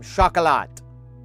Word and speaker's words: Chocolat: From Chocolat, the chocolate that's pronounced with a French pronunciation.